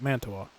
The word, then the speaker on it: Mantua: That's how you say it, Mantua.